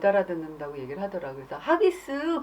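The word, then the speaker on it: Huggies: 우리나라에서는 그 하기스라고 해서 나오잖아요. 근데 영국 발음으로는 허기스래요. 허기스, 허기스, 허기스.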